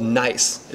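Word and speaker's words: gneiss: foliated layer rock is called nice it's not spilt in IC e it's spelled G and E is s but they're very beautiful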